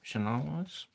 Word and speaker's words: Shanawas: Yeah, I want to see what the vibe is of how do you pronounce his name? Shanawas. Okay, Shanawas. What is going on with Shanawas?